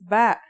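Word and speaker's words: ب: Our first letter of this lesson is ba. And yeah, it makes a b sound.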